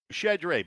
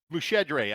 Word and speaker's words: Muscedere: Did I say it right? Muscedere, but very close, yes. How do you say it? Muscedere, actually. Muscedere. Is it really?